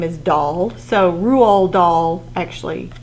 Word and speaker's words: Roald Dahl: It's pronounced Roo, like kangaroo, Roo, and then Rual. It doesn't have, you don't pronounce the D at all.